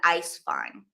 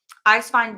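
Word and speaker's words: Eiswein: and Ash lasa and Ice fine ice fine being spelled e i s w i n The W is pronounced like a v in Germany so um Tren also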